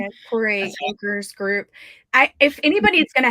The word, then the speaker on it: Torre: Torre, is that how you say her name? Yeah, Torre Anchors Group.